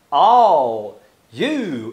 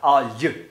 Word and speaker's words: all you: Quando ele fala all you, ele junta all you, all you, all you. Também é o fenômeno da palatalização. Ou seja, o L, la, le, li, la, lu, vai virar o nosso LH, lha, lhe, li, lho, liu, porque ele está antes de uma palavra que começa com fonema palatal.